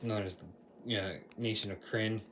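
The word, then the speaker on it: Krynn: as the nation of crin k-r-y-n I'm going to pronounce it like the world friend that's this setting for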